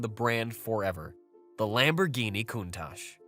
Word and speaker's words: Countach: It is pronounced Countach and simply means wow in Italian.